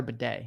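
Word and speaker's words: Badie: heard that too I it's spelled b a d i e someone yeah some announcer out there was saying Tyler bedet I heard that as well I I think we're gonna go with baddy uh someone's worried about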